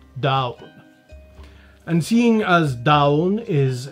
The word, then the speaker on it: Donn: ulster irish it's pronounced dawn as in the dawn coolly from the tour in connacht irish it's pronounced dull as in not really anything and in Monster Irish it's pronounced dau and seeing as down